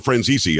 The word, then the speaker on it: Franzese: think you called him franzisi I think you pronounced it more Italian than we do now but uh you